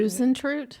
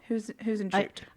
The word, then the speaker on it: Huisentruit: Huisentruit? That is how you say that name. I'm probably gonna butcher the father's name though. Imogen. Yeah. Huisentruit.